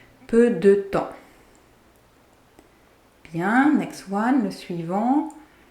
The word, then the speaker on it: peu de temps: And yes, you're hearing it right. The P and S are silent. Peu de temps.